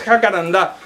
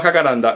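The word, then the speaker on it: jacarandá: Acá en Argentina lo conocemos así, pero con acento en la última A, jacaranda. Yo una vez lo busqué porque es algo que me corregían mucho desde Latinoamérica, desde otros muchos países. Nada, y es jacaranda, no jacaranda.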